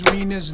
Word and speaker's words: Rina: time I tell somebody your name is Reena I feel like it's like vain you know because cuz it Rhymes cuz it Rhymes it's